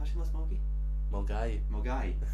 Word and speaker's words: Milngavie: That's Moongavie. It's spelled like Moongavie, isn't it? Milngavie is like how it's spelled, yeah. But it's pronounced Mulgai.